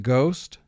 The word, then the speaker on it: ghost: sh as in chef gh represents the sound ga as in ghost gn represents the sound